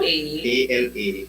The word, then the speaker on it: Alake: It is spelled Alake. Wait, go again. A-L. Alake.